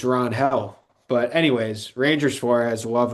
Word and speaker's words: Ranger: Apparently, it's Ron Hell, and we've been pronouncing it wrong the whole time.